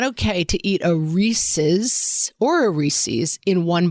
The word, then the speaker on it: Reese's: Reese's Peanut Butter Cups. It's Yeah, it's Reese's. Like, it rhymes with pieces.